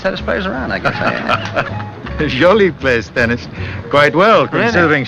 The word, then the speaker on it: Jolie: J O L I E. Ah, and pronounced Jolie.